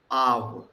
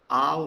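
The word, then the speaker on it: אב: It is ow, because aleph is silent. So we begin with the vowel a, then we end with uv. Aw. Aw means father.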